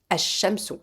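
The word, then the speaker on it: الشمس: mot shamsun et devient shamsous si ce voyez on ne pron on ne prononce pas le al c'est pas comme alqamaron là c'estsou on prend directement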